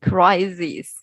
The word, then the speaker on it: crises: difference yeah this is the plural plural just use letter e to replace later i but the pronunciation yeah sounds sounds like similar but there there is a difference the crisis yeah this if and here is e crises crises okay crises crisis yeah it's very subtle right okay yes yes